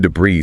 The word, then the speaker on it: debris: Debris. Silent S at the end.